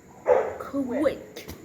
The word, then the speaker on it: quick: So, for example, the word Quick. is pronounced Quick.